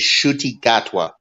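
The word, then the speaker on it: Ncuti Gatwa: William, the way you pronounce this guy's name is Shuti Gatwa.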